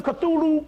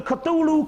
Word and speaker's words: Cthulhu: regular historical book call a guide to the Cthulhu cult by Fred L Pelton Fred Pelton wrote